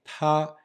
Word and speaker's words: 他: plusieurs variantes, et donc il se prononce maintenant pareil, ta, et il est utilisé d'ailleurs ce caractère pour dire le il neutre, comme le it en anglais.